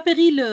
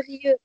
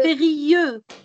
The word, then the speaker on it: périlleux: C'est pas périleux. Alors, on va dire périlleux. On ne prononce pas les p pilleux. Périlleux.